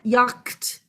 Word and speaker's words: yacht: This is silent. It's a silent shh. And I said yacht because originally it would have been said that way, but regardless, it's just silent.